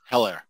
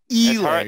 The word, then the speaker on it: Edwards-Helaire: Helaire. No, it's Helaire. You got to say it right. All right. And then everybody else. I like Helaire.